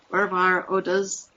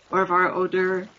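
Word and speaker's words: Örvar-Odds saga: Saga of Oar odor pronunciation courtesy of Google translate as pronounced in Icelandic orar odas and in Norwegian orar odor is one of the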